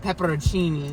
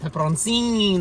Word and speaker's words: peperoncini: provolone and I added peperoncinis the protein you finally learn how to say it it's not pepper on singing like we were saying